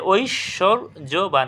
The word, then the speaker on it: ঐশ্বর্যবান: উপর সলভ করব দেখ ঐশ্বর্যবান এটা ঐশরবান এটা আমি একটু আগেও